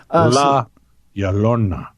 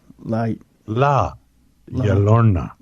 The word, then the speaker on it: La Llorona: La Llorona. La Llorona. La Llorona.